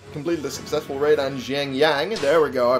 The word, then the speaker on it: Xiangyang: Oh, Sun Se has completed a successful raid on Xiangyang. There we go, I pronounced it right this time.